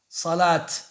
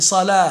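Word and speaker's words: صلاة: On ne prononce pas le ta normalement. On ne dit pas zakat, salat. On dit zakah et salah.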